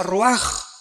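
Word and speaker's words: רוח: Se pronuncia roaj. Por ejemplo, cuando hablamos del Espíritu Santo, el Espíritu Santo es roaj, el Kadosh, el Espíritu Santo.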